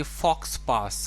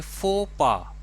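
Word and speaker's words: faux pas: शायद आप इसे पढ़ेंगे फॉक्स पास, कुछ ऐसा पढ़ेंगे, लेकिन इसको हम प्रोनाउंस करेंगे फो पा।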